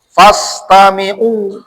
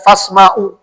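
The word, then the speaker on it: فاستمعوا: Itu kenapa kita disuruh mendengarkan Al-Quran itu mazid 2 huruf. Fastami'u, bukan fasma'u. Tadi kalau manusia yang ngomong, fasma'u nih.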